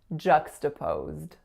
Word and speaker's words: juxtaposed: It's not O, it's really O. Then it goes into a voiced Z sound. Then it goes into a voiced D sound. Juxtaposed.